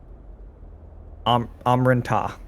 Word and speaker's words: Amran Ta: Amran Ta. You know the planet is named Amran, so Amran. The people are Amran Ta, so the planet plus TAH.